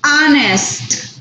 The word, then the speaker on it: honest: I am an honest person. La H en este caso está siendo silenciosa. Entonces, Mr. Brown, por eso, ¿ven? Utilizamos an honest person. ¿Por qué? La pronunciación es de una vocal.